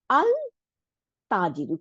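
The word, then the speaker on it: التاجر: তা আলিফ জবর, জিমের নিচে যে, র রূপে পেশ, তাহলে তাজি রু, আল তাজিরু। কিন্তু লাম উচ্চারণ করতেছি না আমরা, কেন করতেছি না? কারণ এটা শামসি ওয়ার্ড।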